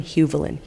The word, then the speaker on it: Huvelin: I'm Huvelin. Hu Hu like the color.